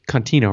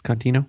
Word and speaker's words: Contino: Well, he did pronounce it right. He said Contino, right? It's Contino.